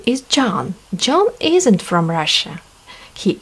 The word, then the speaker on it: John: Давайте обратим внимание с вами, что в слове John H не читается. Она у нас молчит.